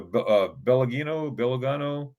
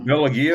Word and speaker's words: Bellagio: Is it the Belagino? The the which one? The Bellagio?